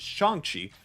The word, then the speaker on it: Shang-Chi: Apparently it is Shang-Chi, so I'll make sure I get that correct.